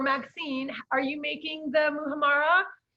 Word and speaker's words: muhammara: Muhammara.